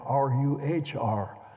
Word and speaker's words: Ruhr: R-O-E-R and R-U-H-R. They're both pronounced the same way, at least if you're American.